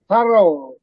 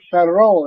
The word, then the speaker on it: thorough: Some like thorough, Through, GH is thorough, is not even pronounced.